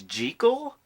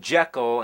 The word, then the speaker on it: Jekyll: You know that the proper pronunciation is gel?